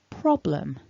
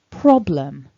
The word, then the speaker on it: problem: lived in this word in order for prob to carry the word stress we need to weaken the second syllable and that's why we've got lum instead of lem so building it all